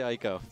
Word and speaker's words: Ico: It is Eco. Oh, I'm sorry. I'm still going to say Ico.